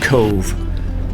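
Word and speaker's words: Cobh: our final destination of Cove spelled c o BH but pronounced c v when I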